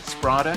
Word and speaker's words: Sprada: Did I pronounce that right? Sprada.